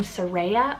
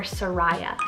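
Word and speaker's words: Seraiah: It's the name Soraya or Soraya, spelled S-E-R-A-I-A-H. I've heard it been pronounced both ways, so I wanted to include both ways.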